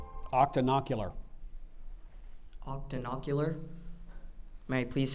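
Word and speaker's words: octonocular: and even eyeless spiders the tarantula is an Octan ular spider the atmology is the word consists of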